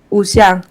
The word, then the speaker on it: Wuxia: Wuxia. Wuxian. ¿Cómo se escribe para quien quiera buscarlo?